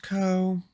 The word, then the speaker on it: curl: one so 1.5 curl the co command is typically pronounced curl curl again the phrase C URL is incorrect okay interesting the co